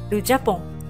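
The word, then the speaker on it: Japon: 一目瞭然ですね日本です発音はじゃぽんですねその右形容詞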